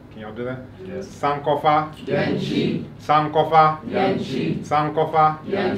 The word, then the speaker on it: Sankofa: really a good brother now when I say Sankofa the state Rada Sankofa oh now you may have heard that word before another pronunciation of some call foul called sound very good so when I say